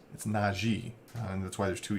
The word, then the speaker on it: Najee: wrong, because he's like, apparently everybody says Najee, and it's something that's kind of a sticking point for him. So it's Najee, and that's why there's two E's.